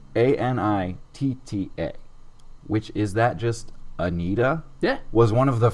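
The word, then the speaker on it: Anitta: last time number nine and this one's weird it's spelled a-n-i-t-t-a which is that just anita yeah was one of the first 10 names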